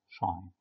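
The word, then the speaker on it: sinh: طيب اوعى تتخيل طبعا ان الشاين الاكس هي ساين اتش في اكس، لا ده الاتش ده رمز مع الساين على بعض وبننطقه شاين.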